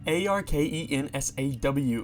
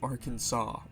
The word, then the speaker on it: Arkansas: It's Arkensaw, like how you say Arkansas. Not how you spell it, Arkansas.